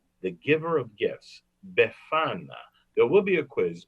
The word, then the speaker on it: Befana: Befana. Can you say that with me? Yeah, say it with me. Befana. Befana. Say it like you have a slight accent.